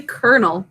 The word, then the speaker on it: colonel: of a weird one we say kernel not kind of it's a very weird one but do you